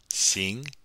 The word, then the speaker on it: 行: And to pronounce the X, don't forget, your tongue should be touching the back of your bottom teeth. 行.